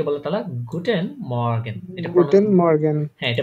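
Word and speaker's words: Guten Morgen: করে তারা গুটেন good মর্নিং কে বলে তারা গুটেন মর্গান এটা গুটেন মর্গান হ্যাঁ এটা বানান করেন গে ইউ টে এন গুটেন এম ও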